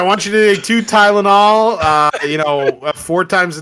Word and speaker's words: Tylenol: TYNOL. WHAT? TYNOL? There's no There's no Tynol. Tylenol. There's another L word. No, red bell. He misses a syllable.